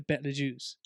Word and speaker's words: Betelgeuse: This is another argument I'm having with my father now over the pronunciation of this. I think it's the Betelgeuse.